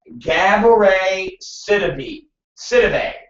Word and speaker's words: Gabourey Sidibe: Literally, it's Gab-E-Ray Sid SID-EE-BAY. So it says how to spell it or say it and pronounce it. So Gabourey Sidibe.